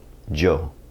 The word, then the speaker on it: yo: and an English J the Spanish word for I is Yo it could be pronounced like yo or Joe depend depending on where you're at now if you're in